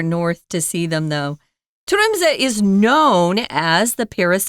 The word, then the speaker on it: Tromsø: So if you don't pronounce the C there, don't worry about it. And again, this is Tromsø, Norway. Tromsø.